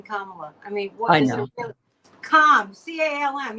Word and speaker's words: Kamala: find such difficulty pronouncing Kamala I mean what Comm CM you can think of it like Comm yeah well it's it's pronounced the same as Pamela only with a K I know but you